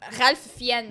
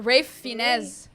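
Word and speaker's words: Ralph Fiennes: I used to think it was Ralph Fen. You write it up, but I think it's it's I think it's pronounce Rafe.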